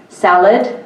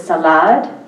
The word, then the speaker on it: salad: And one of the things that can be noticed is a different stress pattern in words like salad being pronounced as salad.